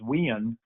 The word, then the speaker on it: Winn: to my hometown it's where my name when becomes two syllables and it becomes wiin where it gets drug out a little bit but no love the